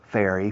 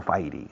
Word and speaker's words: fairy: Fairy, fairy, fairy. Como la para las manos. Fairy. Pues viene de hada. Significa hada. Pero se pronuncia en inglés fairy. No, fighty, fairy.